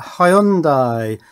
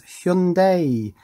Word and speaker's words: Hyundai: It's an accessory for a Hyundai, or I believe the correct pronunciation is Hyundai, electric vehicle, specifically the Ioniq 5.